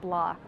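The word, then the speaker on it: Bloch: wearing ballet flats by company called block which is spelled BL och but flight attendants will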